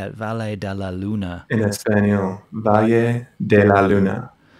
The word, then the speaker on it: Valle de la Luna: a lunar is that how you say it valle de la luna yes by de la luna let's let's have